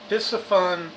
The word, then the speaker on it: Piscifun: Piscifun Torrent. And I have a hard time pronouncing the name of this company, but it's pronounced just like it's spelled.